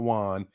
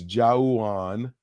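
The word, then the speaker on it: Jauwan: oh oh hold on jauwon jennings spelled with the au is not juan it's jawon yes that's how i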